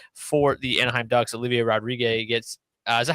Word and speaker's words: Rodrigue: Olivier Rodriguez gets, is that how you pronounce his name? I honestly don't even know. Rodrigue. Okay, that's what I thought. I thought I'd heard it, not Rodriguez.